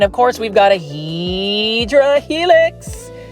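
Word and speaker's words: Hedera helix: And of course, we've got a Hedra helix. Say it with me. Hedra helix. That is the Hideera helix, which is the correct way to say it.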